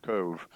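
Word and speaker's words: Cobh: uh Queenstown in Ireland, which is now called Cove, C O B H, pronounced Cove.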